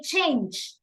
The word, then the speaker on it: change: So we don't say change it, we say change.